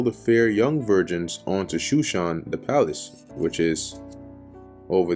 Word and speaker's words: Shushan: gather together all the fair young virgins onto Shushan the palace, which is over there somewhere right here. Here it's spelled Susa, but it's talking about the same place.